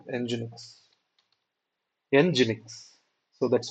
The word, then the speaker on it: Nginx: Nginx. So that's how the pronunciation is.